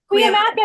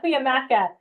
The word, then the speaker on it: Cuyamaca: It's Grossmont, Cuyamaca. Cuyamaca, thank you. I even looked up how to say it. Grossmont Cuyamaca.